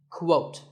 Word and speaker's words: quote: is the word quote this is not pronounced the same as coat the correct way to say it is with a Kuh sound at the beginning quote similarly we have quotation